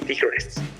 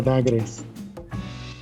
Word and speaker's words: Dagres: Con nosotros, Devianosta y Tigres. Muchachos, ¿cómo están? Se pronuncia Dagres.